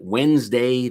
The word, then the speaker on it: Wednesday: a big word and when's the last time anyone ever pronounced the d hmm i'm just saying and that extra e in there totally unnecessary let's just shorten the word down make it wednesday the way we say it and calendars everywhere will